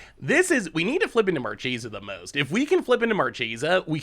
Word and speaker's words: Marchesa: It's officially pronounced Marchesa. Cheesa? No, Marchesa.